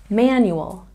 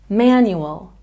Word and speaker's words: manual: We have a stress on the first syllable in this word, manual, manual.